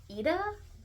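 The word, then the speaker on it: Aoife: sister a we so it's spelled a i o f e and I know it's Irish and I think is pronounced AA I'm not entirely sure uh she ends up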